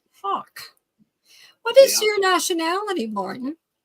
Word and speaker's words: Haugh: spelled h a u g h what it's pronounced Hulk what is your nationality Martin uh I don't